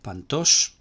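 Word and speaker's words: παντός: géneros pas, pasa, pan, al llegar al genitivo nos encontramos con desplazamiento de acento a la última sílaba, pantos, y el neutro también pantos, mientras que el femenino no se desplaza el acento.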